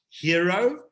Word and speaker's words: Hyro: see over there is pronounced hero but it's spelt hyro and the eye has